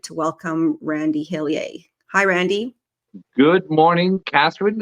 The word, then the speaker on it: Hillier: the pronunciation though is hiler even though I'm from Eastern and central Canada there is no um there is no French pronunciation uh well thank you